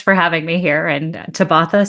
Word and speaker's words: Tabatha: And when my screen reader finds my guest today's name, it pronounces it Tabatha. Don't you like that? Of course, it's Tabatha, but Tabatha.